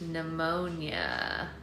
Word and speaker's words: pneumonia: it then I guess the p is silent pneumonia pneumonic oh yeah how